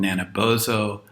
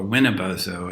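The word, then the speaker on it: Nanabozho: the Ghibli trickster figures called naina bozo or wina bozo and it depends on who's speaking as to how you pronounce it we don't have to get into that but Nana bozo so Nana push is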